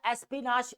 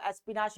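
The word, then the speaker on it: espionage: उसके बाद एसपीनाश। एसपीनाश भी कुछ इसको बोलते हैं। एसपीच भी बोलते हैं। ठीक है? तो आप दोनों एसपीश जो अगर डिक्शनरी के अकॉर्डिंग अगर इसकी प्रोनाउंस चेक की जाए तो एसपीश आता है।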